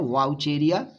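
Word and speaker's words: Wuchereria: वाउचेरिया लिखा जाता है उसको वाउचेरेरिया, लेकिन प्रोनाउंसिएशन है वाउचेरिया।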